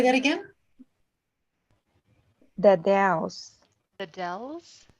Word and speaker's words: The Dalles: the Dells, Where? the Dells, Oh, Can you say that again? the Dells.